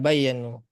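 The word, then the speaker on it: بيانُ: Eh, Itu tadi bacanya bayanu ya Ustaz ya? ya, bayanu.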